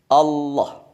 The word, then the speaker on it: Allah: hanya satu kata inilah yang cara pelafalannya melafalkannya mengucapkannya berbeda dengan kata-kata yang lain tidak ada kata yang diucapkan seperti kata ini Allah menggunakan lam tafkhim lam yang tebal Allah kemudian seandainya disambung